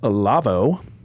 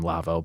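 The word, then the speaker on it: Lawo: that no incorrect it's Lavo yeah screw that that's not true see the the manufacturer is a German and so that's how you pronounce it I guess it's his last name Lavo but they have a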